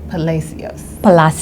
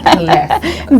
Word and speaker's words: Palacios: Her name is Maria Palacios. And I said it wrong. Palacios.